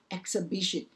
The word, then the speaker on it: exhibition: 得很怪，念不出来 exhibition，所以这前面是 x。